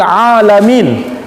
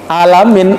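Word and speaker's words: العالمين: terjemahkan dengan alam semesta ingat di situ bacanya dengan huruf Ain Alhamdulillahirobbil alamin Jangan dibaca dengan Hamzah kalau dibaca dengan Hamzah berubah artinya itu ya Alhamdulillahirobbil alamin sekilas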